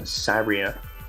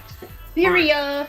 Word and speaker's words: Syria: and plan to withdrawal of U.S troops from Sabria huh Syria Syria to most people so yeah how to